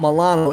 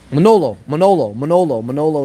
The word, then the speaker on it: Manolo: Oh, it's not Milano. It's, well, how do you say it? He said, not Milano, but not Milano. Manolo is how you say it.